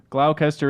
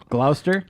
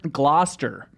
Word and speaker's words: Gloucester: let you go on mispronouncing it long enough Glaucus tur is pronounced Glau Gloucester Gloucester Gloucester what huh what is this thing it's